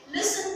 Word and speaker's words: listen: Okay, listen to music. Listen to music. Of course, letter T is silent. We write it, but we do not say it.